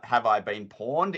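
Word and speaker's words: Have I Been Pwned: not the best but it's called has have I been pawned is that is how you say this particular website and you're actually able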